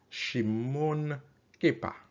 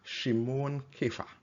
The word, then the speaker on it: Shimon Kefa: I am Simon Peter Shimon kepa replied oh sorry not I mispronounced Peter's name Shimon kefa replied you are the Christ